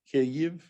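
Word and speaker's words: Kyiv: uh bachelor's degree in kf she's born and bred in cave by the way kf has two syllables ke ev not what you hear on tv and uh got graduate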